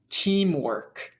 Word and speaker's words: teamwork: emphasis so for example the word teamwork it's emphasized in the